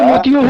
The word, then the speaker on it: मोती: सर, मोती का तो मोतियों होगा सर, मोतियों की माला बोलते हैं ना, तो उसमें कोई है अगर कोई मोती, सही उच्चारण मोती है, मोती बोलते हैं।